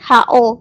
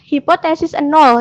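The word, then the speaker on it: H₀: yang satunya hipotesis nol jadi buat bacanya jangan salah ya jangan Ho kayak gitu jangan tapi hipotesis nol yang bener Kalian bakal Dimarahin guratna kalau kalian nyebutnya Ho kayak gitu Jadi yang bener tuh hipotesis nol gitu kan Nah itu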